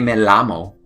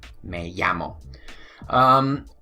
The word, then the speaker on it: llamo: yeah mo okay so anytime you see the Double L right over there okay don't say Mel ah mo say in a llamo ll okay 1 l plus 1 L makes a why ok don't forget may-yammo when you see a